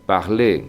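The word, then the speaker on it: parler: igual que el infinitivo parle que acaba en r en el que esa r tampoco se pronuncia y en nosotros parlón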